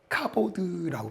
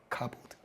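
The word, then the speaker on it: כבוד: 영광이라는 게 무엇이냐면 원문으로 보니까 히브리어 카보드라고 발음을 해요. 카보드.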